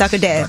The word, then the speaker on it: Sarkodie: Sarkodie. Yes. Sarkodie.